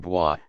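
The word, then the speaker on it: bohío: 2, dice, a las casas llaman bois, con acento en la I bojequio el anciano cacique, regulo de Jaragua, en Haiti.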